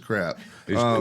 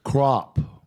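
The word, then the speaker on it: Crapp: the name of Mrs crap it's pronounced crop are you sure no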